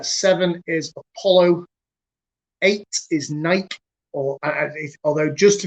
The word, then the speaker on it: Nike: is poseidon uh seven is apollo eight is nike or ah although just to be clear correct pronunciation is nike uh nine is hermes uh let's hope that